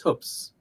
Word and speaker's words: Hoopes: to this will know the correct pronunciation my name and you'll you'll know that they're a little bit a little bit up on things uh but it rhymes with with good books or good looks uh or cookbooks uh but it but it but it's hoops um something else that